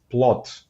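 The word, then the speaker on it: плод: so um for example our word for fruit is plot so even though it's written with a D in in the language itself it's pronounced with the T at the end so that could introduce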